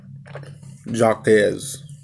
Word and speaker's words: Jacques: That's Jacques, baby.